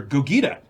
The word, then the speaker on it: Gogeta: It's pronounced Gogeta.